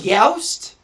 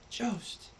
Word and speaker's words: Jost: And then Google told me it was Youst. That's not even... Go fuck yourself. How to pronounce... See, it's times like these, I wish I had a rewind button that I could go back and... It's not Youst. Ugh. Jost.